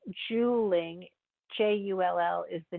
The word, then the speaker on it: Juuling: Juuling, spelled J-U-U-L, and it's pronounced Juuling, J-U-L-L is the name